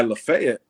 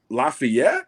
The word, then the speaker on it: Lafayette: I was driving past Auburn, and by Lafayette, and I was just like, Lafayette, and they're like, no, Lafayette. Lafayette. Okay. They'll tell you Lafayette quickly.